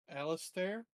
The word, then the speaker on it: Alistair: Alistair. Yeah. Spell it. Yeah. Alistair. Alistair. Alistair. Spelled stare with stair in them. You know, stairs like the ones you walk on.